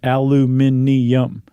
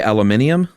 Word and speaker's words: aluminium: Apparently, the rest of the English-speaking world spells it aluminium. There's that extra syllable spelled out. Oh, they say aluminium?